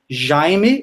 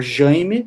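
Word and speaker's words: Jayme: His name was Jaime or Jaime, some people pronounce it differently, which is like James in in Portuguese.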